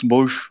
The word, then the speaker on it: Bosz: Bosz. Mais Bosch, ça Bosch. dépend comment tu veux prononcer le O. Le O en néerlandais, c'est O. Donc Bosz.